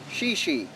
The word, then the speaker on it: Seul Choix: point lighthouse uh or in the correct french pronunciation shishi uh so it's a